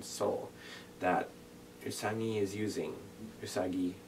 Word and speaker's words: Usagi: that usani is using usagi i say it like sailor mars at least i don't know i don't think the new sailor mars voice actors does that but tommy saw michie she she used to say that all the time we're very nasal rest the rest are like usagi so there's the heart g or the soft g and i'm totally getting